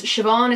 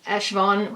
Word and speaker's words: Siobhan: Like, I wouldn't have used my name because Siobhan is something that isn't that common outside Ireland, and it's always mispronounced. So if I'd actually put Siobhan, which is S-I-O-B-H, Afda in, so Afda is